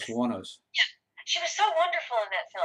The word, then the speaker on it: Wuornos: Wuornos.